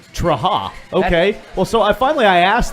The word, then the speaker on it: Trahan: Yeah, and so it was Trahan for a little bit, and then we were told it was Traha. Yeah. Like Traha.